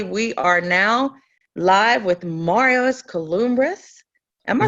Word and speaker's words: Marios Kouloumbris: I introduced you before you came on, but everybody, we are now live with Marios Kouloumbris. Am I pronouncing Yeah.